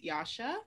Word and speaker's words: Yasha: everyone my name is yasha i know it's about jazza but rhymes with sasha i use she her